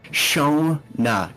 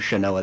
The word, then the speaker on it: Shona: because she's very Shona. Got it. It was a mistake to say her name was Shanoa that first Think of session. Think of it like the virus. Oh, Corona. Shona. Shona.